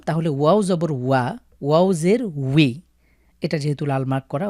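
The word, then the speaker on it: وِ: ওয়াও জের উই।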